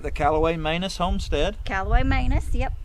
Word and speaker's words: Manus: Manus is how it's said.